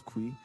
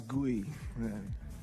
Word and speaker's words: 구이: And in Korean, we have to pronounce it like asparagus kui. And he thought he want to sound it like English, so he says like asparagus gui.